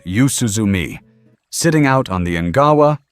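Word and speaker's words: 夕涼み: The Japanese habit is called yuzuumi pronounced yuzuumi sitting out on the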